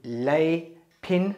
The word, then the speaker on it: Leypin: once again under Amazon it is called the lay pin which is spelled L e Y P I n selfie